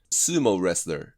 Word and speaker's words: sumo: で綴り通りここはロング U ここはロング O です。英語の綴りのルール通りに読めばいいだけの話です。スモーler 。